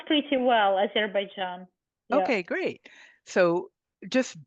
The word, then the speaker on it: Azerbaijan: So again, you pronounce pretty well, Azerbaijan.